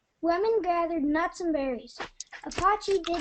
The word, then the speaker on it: Apache: New Mexico and Arizona the name Apachi is pronounced Apachi and means fighting men fighting men or enemy